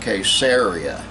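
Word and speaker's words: Caesarea: and he is the first preacher I've heard pronounced the name of this town and Italy properly it was called caseria there was a certain man in case area called Cornelius a centurion of the band called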